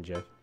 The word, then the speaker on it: GIF: How about Captain Falcon GIF? GIF. That's the way it's pronounced.